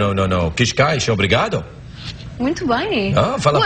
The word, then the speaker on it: Cascais: Not everybody can pronounce the words all that easily. Cascais? Like No. Cascais, obrigado.